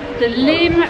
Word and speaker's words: Lim: I thought it was Lyme. I thought this was Lyme. No, we've got the River Lim. The River Lim. The River Lim. Lim. Not River and you Lyme. Can spell it L-Y-M or L-I-M.